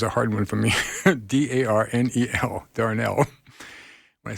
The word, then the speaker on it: Darnel: Honestly, it's Darnell.